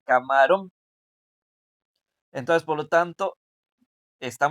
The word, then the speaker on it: camarón: La sílaba tónica se encuentra, viene siendo la primera. O sea, la sílaba más, la que suena más fuerte es la primera. Por lo tanto, está sonando como cámaro, cámaro. Pero yo no quiero decir cámaro, yo quiero decir camarón.